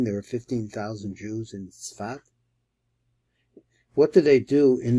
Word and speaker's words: Safed: They pronounce this word, we pronounce it Sfat, or in Ashkenaz it's Sfas. But they write it as Safed.